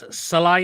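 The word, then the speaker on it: Sallai: go for comments what's Roland salai is how you pronounce his name yeah Sal yeah he's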